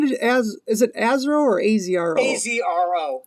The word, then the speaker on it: AZRO: AZRO. Okay, you pronounce the letters. Okay. It's the letters, yeah.